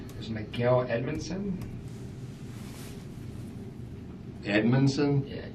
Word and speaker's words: Edmonson: a l there Miguel Edmonson Edmonson yeah it's like e d m o n d Edmonson that's more than three syllables long I'm lost Edmonson e dmu hang on